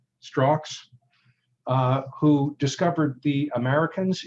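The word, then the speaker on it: Strzok: on compromised and this is the man you pronounce his last name strox uh who discovered the americans if you've seen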